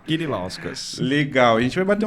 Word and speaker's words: Kirilauskas: Kirilauskas. É lituano, é como se escreve, é como se lê com K. Kirilauskas.